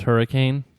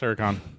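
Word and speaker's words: Huracán: It's pronounced hurricane. No. It's Huracan.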